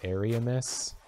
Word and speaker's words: Ariamis: the world of ariamis it's pronounced different ways because in dark souls 3 they've got the painted world of ariandel and so if you're drawing a line of pronunciation between the two it would make sense that this one is arianous but if you aren't doing that then i would say ariamis probably makes more sense you know what i'm